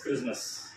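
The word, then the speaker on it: Christmas: இட் இஸ் நாட் கிறிஸ்மஸ் இட் இஸ் கிறிஸ்மஸ் என்னங்க கிறிஸ்மஸ் okay okay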